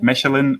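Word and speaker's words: Mechelen: it's it's um i can't really um it's pronounced like the german like michelin it's m-e-c-h-e-l-e-n i'm not sure i'm not sure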